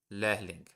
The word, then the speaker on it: Lehrling: Uh Lehrling. You don't really have to pronounce the the H uh from lehren.